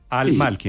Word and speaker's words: Al-Malki: Al-Malki, entonces no es Malki, sino Al-Malki. Es que el A-L es como el artículo en español.